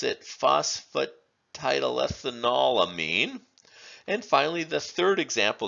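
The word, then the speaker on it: phosphatidylethanolamine: also a quaternarium mean and polar we would pronounce it phosphate tidal ethanolamine and finally the third example that we're showing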